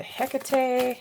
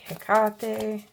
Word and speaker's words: Hekate: Some people pronounce it Hecate Hekate.